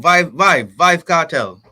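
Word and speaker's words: Vybz Kartel: Oh, Vibe Cartel.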